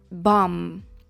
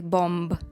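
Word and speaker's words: bomb: давайте розбиратися наприклад слово бам бам дуже хочеться сказати бом але ні Якщо ви сумніваєтеся що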